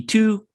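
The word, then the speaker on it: tu quoque: Looked up how to pronounce something. The Tuku.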